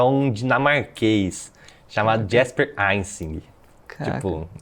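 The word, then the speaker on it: Ejsing: um dinamarquês chamado Jasper Eining. Tipo, Jasper se do mesmo jeito se pronuncia, você escreve, mas o Eining é outro nome, é J sing assim, pode crer.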